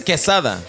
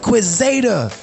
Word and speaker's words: Quesada: It's quesada. Quesadilla, nigga. I'm playing. Quesada. Quesada. But like in high school, it was funny. Like we had a televised high school game, and that fucking dude butchered my name the entire fucking game. Quizada.